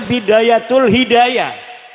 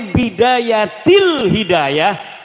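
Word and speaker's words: بداية الهداية: Karena deke maca Bidayatul Hidayah. Harus sebah dibacanya Bidayatil Hidayah karena anak huruf jerbe.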